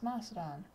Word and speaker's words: Macedon: Some people pronounce Macedon, but according to the original Greek, especially what Alexander III was speaking, it would have been a K sound, not a C sound.